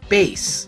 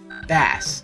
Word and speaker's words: Bass: I'm going to assume that since his Japanese name is Forte, and his dog's name is Treble, that his name is in fact Bass. However, you could also say it's pronounced Bass due to the fact that his helmet has a fish fin shape, and in Mega Man